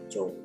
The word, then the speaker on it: Cho: Cho bukan sebetulnya bukan Cho. Bukan Cho, bukan Cho, tapi di Korea sebetulnya adalah marga Jo. Cara membacanya adalah Jo.